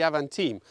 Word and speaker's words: Avantime: time I don't know I've always called them Aventine but I think French pronunciation would be avant-team although the name is